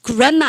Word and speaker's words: grammar: 그래마 한 번 발음. 여러분들 이런 거 모르면 되게 촌빨나는 거예요. 아시죠? 여러분들 그래서 그래마 한 번 발음하시고 여러분들 그다음에 입말을 우리는 뭐라고 배웠냐면 이렇게 배웠습니다.